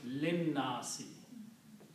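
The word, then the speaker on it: لِلنَّاسِ: And then you do not pronounce this alif here. Okay. So you combine lam with the lam. Okay, and that lam was not pronounced already, so it becomes linnasi.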